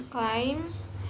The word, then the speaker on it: climb: B is silent in the combination MB at the end of the word. For example, such as claim becomes climb, num becomes num, and tum becomes tem.